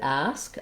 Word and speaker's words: ask: So in the word ask, I just have one syllable, so that syllable is stressed. Letter A in ask says the black cat vowel. So you could think about cats ask or the cat asks, trying to match that